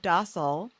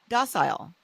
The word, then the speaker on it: docile: She is a first generation Korean painter and author of Docile. Docile. How do you say that, Hyeseung? I think you could say either. I mean, I say docile, I but think it's docile.